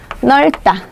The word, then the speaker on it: 넓다: 앞쪽에 있죠 리얼 이죠 그래서 어떻게 읽으시면 되는 거예요 넓다 넓다 이렇게 읽으시면 되고요 그다음에 우리가 좀 많이